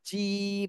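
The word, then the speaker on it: جيم: আচ্ছা যে এটা একটু আওয়াজটা একটু চিকন থাকবে জিম মানে নিজের দিকে চাপ থাকবে যে যে বললে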